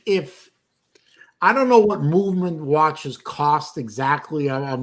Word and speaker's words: MVMT: no garbage absolute garbage it's pronounced movement but it's like mvmt and they use chinese